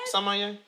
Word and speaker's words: sommelier: He's a sommelier. Is that how you say it right? Sommelier?